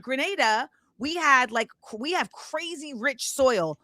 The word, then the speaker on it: Grenada: Grenada. Thank you. Thanks. I knew I was going to mispronounce it.